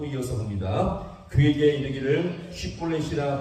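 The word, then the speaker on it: 쉽볼렛: 쉿볼렛이라 발음을 시켰는데, 자, 이것은 무거운 짐, 무겁다, 무거운 짐이라는 뜻을 갖고 있죠. 당시 에브라임 사람들은 지역 사투리 영향으로 말미암아 발음을 제대로 할 수가 없었습니다. 약간의 차이겠지만 시볼렛으로 발음하면 그는 에브라임 사람이 탄로나게 된 것이었습니다.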